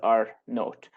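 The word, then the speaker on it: R naught: is R 0 or some people pronounce it as our note so this is the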